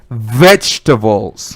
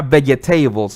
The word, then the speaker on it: vegetables: next word this is very tricky number four vegetables vegetables vegetables vegetables you don't pronounce our veggie tables no vegan tables is not the correct pronunciation